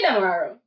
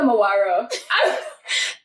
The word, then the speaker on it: Demerara: Say Demerara. Demerara. I said Demawaro. Tight tongue like. But anyway, It happens. so they claimed that Demerara. I said it right.